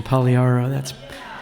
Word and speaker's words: Pagliaro: David, you even got the Italian pronunciation, Pagliaro.